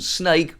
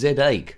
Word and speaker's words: Znake: the ZX Spectrum 48k this one's called snake or is it pronounced Z8 it's supposed to sell snake but in a cool sort of way but anyway that's